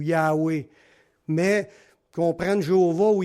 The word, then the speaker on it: Yahweh: mot, mais des prononcés Jéhovah par les témoins de Jéhovah, ou même dans notre Bible, ça va être écrit Jéhovah, mais la vraie prononciation, ça serait plutôt Yahvé ou Yahweh.